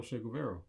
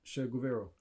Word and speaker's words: Che Guevara: Oh, Che Guevara.